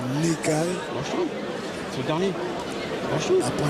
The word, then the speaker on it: Nekaies: Parce que je dis toujours Ni, mais c'est Nekae.